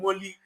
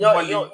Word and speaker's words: Kofi Mole: Let's move on to some Mole news. You know Kofi Mole. I don't know why you confuse Mole and Molly. I don't know why you do that. Whenever I mention Mole, I mention Mole.